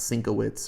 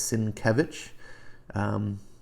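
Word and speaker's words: Sienkiewicz: problem saying his name it's not cinco wits or psychic coup it's it's sin Kevin if you know how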